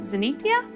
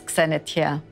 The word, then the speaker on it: Xenitia: about her upcoming exhibition, Xenitia. Is that how you pronounce it? Well, yeah, I guess in English you would, but in Greek it's Xenitia, because we've got the X sound instead of the Z.